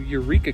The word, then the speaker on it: Yreka: is taking me to Eureka, California. or at least that's how I'm assuming it is pronounced is Y R E K A Y R E Ka.